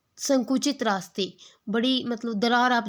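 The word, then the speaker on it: sake: cracks होता है narrow gaps opening यानी कि संकुचित रास्ते बड़ी मतलब दरार आप जिसको बोल सकते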